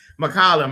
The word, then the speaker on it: McCollum: Yeah, McCollum.